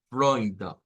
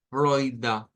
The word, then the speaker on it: Freunde: En este caso, como es con la F, esa R gutural sí se va a parecer mucho a la R nuestra, es bastante parecida. Es decir, como la F es una consonante que se gesticula labial con labio diente, labio dental. Entonces, cuando hacemos eso y luego Freunde, Freunde, se escucha más como una R realmente.